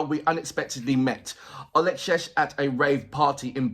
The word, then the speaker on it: Olexesh: The song is called Shalom, featuring Olexesh, and I hope I'm pronouncing your name right. It's Olexesh. That's the way.